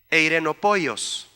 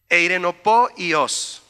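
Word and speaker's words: εἰρηνοποιός: sale bien la pronunciación, Eirenopoios. Suena como los pollos de Irene, ¿verdad? Eirenopoios. Así como se oye, con acento en la última O.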